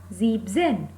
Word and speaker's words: siebzehn: The second rule is En and Z cannot be written together. That's why here en is eliminated. So the pronunciation becomes Siebzen.